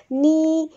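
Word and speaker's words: knee: नी, नाइफ, नॉट, नो, तो के common है, ये के साइलेंट होता है इन सब में, ये बात इसमें कॉमन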